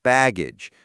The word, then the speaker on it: baggage: And for pronunciation, excess has the stress on the second syllable, excess, and baggage has the stress on the first syllable, baggage.